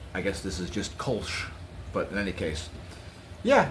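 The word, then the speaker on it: Kölsch: It is normally spelled K O L L S C H pronounced Kulch. Uh I guess this is just Kulch.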